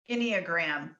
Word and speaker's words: Enneagram: Enneagram.